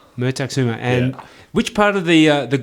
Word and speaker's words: Mertakusuma: And I think today I just want to start by pronouncing your last name. How do I actually say your last name properly? Mertakasuma. Mertakasuma.